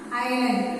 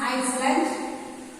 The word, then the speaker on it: island: An island. It is written as Iceland, but pronounced as island.